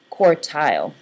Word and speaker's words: quartile: You have 2 halves and a lower and upper quartile. Oh, that's got an R in it. Quartile. Like quarter, but quartile.